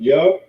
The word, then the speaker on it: yad: That's the symbol yad. We pronounce it yah.